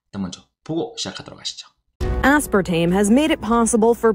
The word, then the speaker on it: aspartame: 자, aspartame 우리 보통 아스파탐이라고 요즘 부르는데요. 이 aspartame의 영어 발음은 이 aspartame has made it possible 가능하게 만들어졌대요.